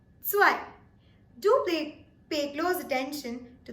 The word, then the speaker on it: zwei: Paying close attention to the pronunciation of the Z that comes in the spelling of zwei, it is very essential to emphasize a little bit on the T. It's not zwei, instead it is zwei.